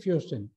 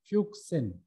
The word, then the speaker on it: fuchsin: kindly go through it basic fusion more important it should be pronounced as fuchsin and sodium metabisulfite and